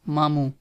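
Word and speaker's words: ماموں: So if uncle from your mother family, it's mamu. Mamu. First say ma and then say mu.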